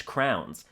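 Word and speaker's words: krone: That's 50 Danish crowns, which is spelled K R O N E, but it's pronounced crown.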